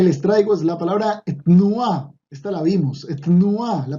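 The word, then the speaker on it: תנועה: Etnua, y ojo que hay que pronunciar la T, pero sin vocal, etnua.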